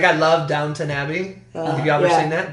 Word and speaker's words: Downton Abbey: I call it Downtown Abbey. Always! And it's my favorite show. Because I lock something in my brain, I say it wrong the rest of my life.